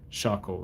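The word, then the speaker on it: 車庫: So shako is how you read it.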